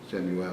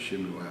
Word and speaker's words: Samuel: Samuel is how you say it. It's actually Shemuel in Hebrew.